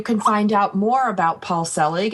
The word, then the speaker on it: Selig: of mastery you can find out more about Paul Selig it's very simple go to his website Paul PA ul his last name is pronounced Selig ste l IG com that's PA you LSE